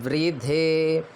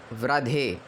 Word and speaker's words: वृद्धे: नप्रा युवो रक्षितो दिव यहां पे ध्यान देने योग्य बात यह है कि कई लोग कहते हैं देवानो जथा सादामद वृद्धे वृद्धे नहीं बोलना है। यहां पे जो रिकार है तो इसको र के साथ छोटी इ की मात्रा उच्चारण होती है।